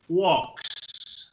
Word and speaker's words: walks: No se pronuncia la L, sino que se dice walks.